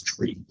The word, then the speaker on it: three: with the proper pronunciation phonetic pronunciation is tree so uh air traffic controllers will always say tree for three um a lot of